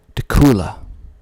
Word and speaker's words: Dacula: like to uh mispronounce dula dula spelled d a c u l a dula I used to think it was pronounced Dacula because it sort of looks like Dracula without the r Dacula but that is